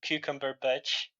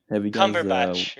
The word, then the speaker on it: Cumberbatch: I remember my favorite way to mispronounce his name is Benedict Cucumberbatch. Benedict. Benedict Cumberbatch, right? That's what his real name is, right?